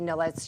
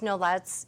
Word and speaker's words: Nolet's: I brought the Nolet's gin. I believe it's pronounced Nolet's. It could be Nolet.